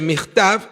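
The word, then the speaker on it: מכתב: lo cambiamos por michtav, la pronunciación del kaf, quitamos el dagesh y lo ponemos como jav, quitando el dagesh, y dice michtav significa carta.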